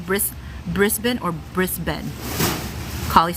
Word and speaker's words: Brisbane: is that right bris Brisbin or Brisbin collie said Brisbin or rivendale Brisbin zigzag _ elf the Bane on the end of bris Brisbane doesn't rhyme with Bane so brisb wrist Benin